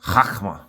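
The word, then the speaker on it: חכמה: And then when I said Hakma, it's like Chakma, but it's a guttural. So it's like Hakma. So it's something similar to that. Hakma. So if you just like basically pronounce it something like that, you kind of got it.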